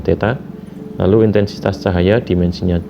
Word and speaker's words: theta: yg suhu dimensinya adalah theta ini bacanya Teta lalu intensitas cahaya dimensinya